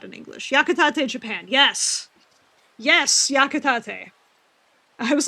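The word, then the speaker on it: Yakitate!! Japan: Yakatate Japan. Yes. Yes. Yakatate. I was like I don't remember how it's spelled, so I want to make sure I say it correctly.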